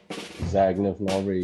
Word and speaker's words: Zagnif Nori: Zagnif Nori, yeah.